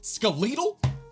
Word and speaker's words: skeletal: Skeleton, skeletal? Stop. Like I said, not everyone will pronounce it skeletal in the UK, but that is a very popular way of saying it, and it just sounds weird.